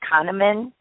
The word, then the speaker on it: Kahneman: I think Kahneman is how you pronounce it.